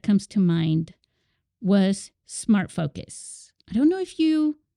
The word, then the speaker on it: Phocus: But Smart Phocus, which is spelled with a PH, Focus, that company between 2013